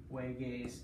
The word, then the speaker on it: juegues: put it down here, J-U-E-G-U-E-S. Why? It's a stem changer, so it's juego, and then you have to make that gay sound, no juegues. To have a g sound, you have to add U-E.